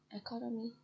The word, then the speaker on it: economy: Economy to economic. Base economy, stress on con.